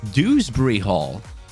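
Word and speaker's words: Dewsbury-Hall: Hall you're the one oh wait it's dewsbury Hall oh my God I thought it was Drew d-r-e wow I've been saying it wrong this entire time sorry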